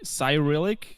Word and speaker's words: Cyrillic: wait hold on carillic i've never heard wait do you say it like cyrillic or yes cyril it's pronounced cyrillic english